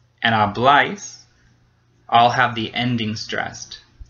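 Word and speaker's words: habláis: And likewise with hablais, we have an accent mark. So it's the last syllable. It's hablais.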